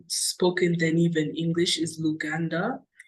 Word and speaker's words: Luganda: either you know Swahili or how do I pronounce it lug luganda I don't want to mess it up yeah